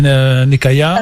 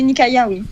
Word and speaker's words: Nikaïa: dit vas y ça parce que moi j'ai prononcé nakaya la salle au palais nikaïa alors pas de malaise